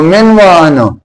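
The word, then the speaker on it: من و عن: बल्कि सही लफ्ज़ आप सामने देखिए, सही लफ्ज़ इमला में और बोलने में इस तरह है कि मीम के नीचे ज़ेर है तो मिन व आनो, मिन व आनो। तो मीम के नीचे ज़ेर और ऐन के ऊपर ज़बर, तो इमला और बोलने का ये अंदाज हो, ये दुरुस्त है।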